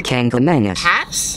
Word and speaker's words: Kancamagus: Oh, the Kancamagus Pass?